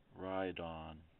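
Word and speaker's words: Rhydon: big guy horny probably a pretty tough skinned ride on that's how you pronounce it kind of a tough one longtail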